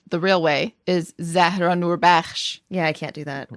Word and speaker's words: Noorbakhsh: We have our favorite Iranian-American Muslim comedian, Zahra Noorbakhsh.